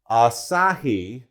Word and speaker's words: Asahi: notes on here because I didn't want to mispronounce it so the plastic that this is made out of is Asahi spelled a-s-a-h-i and the actual plastic is a